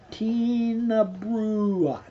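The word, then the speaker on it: Tighnabruaich: Tina Bruach. A wee tin of brew. Well, Scottish pronunciation is not something that I claim.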